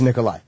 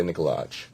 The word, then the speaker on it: Nikolaj: Is the J silent? It's like an eye, yeah. Okay, so it is Nikolai.